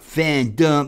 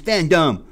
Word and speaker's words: fandom: you said it wrong it's not fan dumb it's fandom i was like dude